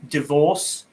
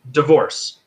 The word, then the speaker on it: divorce: Same divorce. It's not divorce. At least that's not when I'm pronouncing it, right?